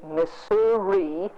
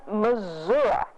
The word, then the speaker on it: Missouri: And in 1894, the Marshall Democrat News said, here's the correct pronunciation, and they contrasted the Missouri, and here's the correct pronunciation, Missouri.